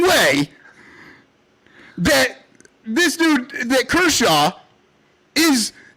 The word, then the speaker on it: Kershaw: Kershaw.